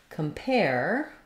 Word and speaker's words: compare: look at the word compare the stress falls on the pair syllable so letters AR say